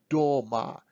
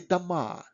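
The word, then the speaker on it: дома: If O in a word is not under stress, we pronounce it as a kind of R. So we don't say Doma. We say Dama.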